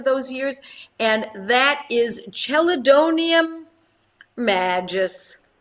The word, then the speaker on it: Chelidonium majus: Banerjee for those years, and that is Chelidonium magis. Chelidonium magis. Chelidonium, Chelidonium. Magis is spelled Majus, and I love this medicine in a 6.